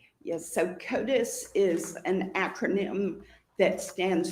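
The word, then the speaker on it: CODIS: Can you tell the jury what COTUS is? C O D I S. Yes. So, KOTUS is an acronym that stands for the combined DNA indexing system.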